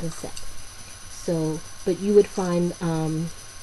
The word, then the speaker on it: Aset: In ancient Egypt, she is known as Aset, and I think there's another way of pronouncing it, but I pronounce it Aset.